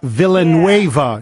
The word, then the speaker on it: Villanueva: of that kid Pittsburgh yes that player yeah Villanueva is how you pronounce his last name Alejandro Villanueva number 78